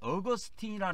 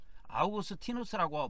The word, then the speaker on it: 아우구스티누스: 이전에 어 1600년 전에 어거스틴이 사람이 있었어요 아우구스티누스 부릅니다 천주교에서는 어거스틴 아고 발음하지 않아요이 어거스틴이 발음하는 건 영어식 발음이고에 아우구스 아우구스 티노스 이렇게 보통 부릅니다 어 이분은 지금으로부터 한